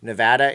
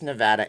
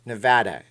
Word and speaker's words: Nevada: tax shelter state and yes it's Nevada it's not Nevada it's not what he does okay Nevada it's we have a license plate on how to pronounce the name here the correct way for gosh sakes everybody